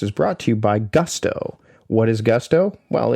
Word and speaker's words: Gusto: This episode of the Productivity podcast is brought to you by Gusto. What is Gusto? Well, it rhymes with must or Rusto as in let's do it once more with Gusto.